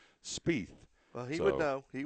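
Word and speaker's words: Spieth: show spe yeah it's spe well it looks teeth with a yeah it's spell IE but it's teeth with an SP on the front of it spe well he would know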